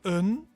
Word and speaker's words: een: For example, een koffie alsjeblieft. Een something alsjeblieft. Interesting that in Dutch the A is pronounced een, and in German it's pronounced ein, so similar but different.